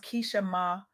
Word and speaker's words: Keeshemah: I recently had the profound honor of sitting down with Keeshemah, pronounced Keeshemah, a widow disciple of Christ, mother, grandmother, fiance